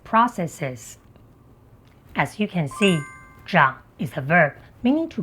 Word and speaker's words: 長: As you can see, Jang is a verb meaning to grow or to grow up.